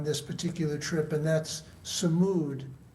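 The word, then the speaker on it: sumud: But I learned another word on this particular trip, and that's samud, spell it S-U-M-U-D.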